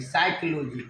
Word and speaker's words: psychology: जैसा कि कुछ भी लिखेंगे, साइकोलॉजी, PSYCHOLOGY, साइकोलॉजी, शाय प्रोनाउंसिएशन आया आई, कोलॉजी क्या उच्चारण आया ई,